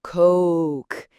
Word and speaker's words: Coke: Yeah, think of it as Coke. It's a longer, rounder sound, that O sound. So when you're ordering, you want to say, I'd like a Coke, please. Really exaggerate that vowel. So the example would be, I'd like a Coke, please. And you really want to make sure you hear that ooh sound in there. It's a very clear, distinct diphthong.